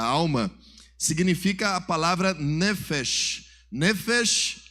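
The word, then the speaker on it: נפש: significa a palavra nefes nefes é a pronúncia Hebraica para a palavra alma diz assim comigo nefes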